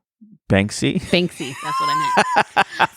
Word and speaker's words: Banksy: What about Bansky? Banksy?